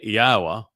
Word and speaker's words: Yahowah: a transition and focusing on what follows thusly Yahwa which is the proper pronunciation of Yahwa our elawah god as directed by his Torah teaching regarding his high existence and our shalom restoration.